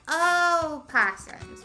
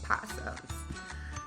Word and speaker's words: opossums: actually oh possums oh possums it's very confusing part of that is because when we're praying to the opossum North Americans usually don't pronounce the O but the O is what makes them different so yeah definitely didn't